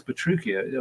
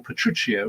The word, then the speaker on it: Petruchio: but then you know it's petruchio or petruccio rather as he should be pronounced uh it's a slightly